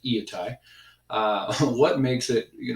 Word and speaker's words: Iatai: that makes Viet I that's by the way how you pronounce that eeeh tae of what makes it